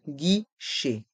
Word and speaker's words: guichet: le panneau d'information un guichet un guichet les lettres g et U se prononcent gu un guiché et les